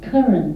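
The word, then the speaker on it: Karen: call them themselves Gan but in English it's pronounced as Karan the name of Karan from buma and we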